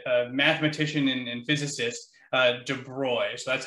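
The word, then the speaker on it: de Broglie: uh french uh uh mathematician and physicist uh de broy so that's how you pronounce this uh word there uh that's his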